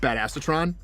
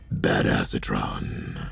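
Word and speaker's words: Badassatron: himself bad acetron the the one I'm floating right now is um bad acetron which is actually pronounced bad asatron and going on about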